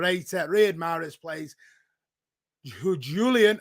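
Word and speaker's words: Julián: read morris plays who julian or julian if you're gonna pronounce it right alvarez does start tonight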